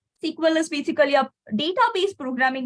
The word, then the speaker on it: SQL: So that language is called as SQL. Okay, it's SQL, or we pronounce it as SQL. SQL. Okay, SEQUEL.